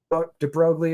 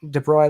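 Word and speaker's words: de Broglie: the US and he de brogle or however pronounce it de broy let's say um kind of that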